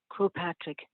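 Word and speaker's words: Croagh Patrick: wants to google it afterwards the first word is spelled c-r-o-a-g-h and then the second word is patrick so this is it kro patrick starting the climb in darkness we reached the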